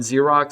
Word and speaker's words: xerox: you ever like like the word xerox starts with the x ends with x but the first x you pronounce like a z and then the last x you pronounce like a x so i'm guessing xx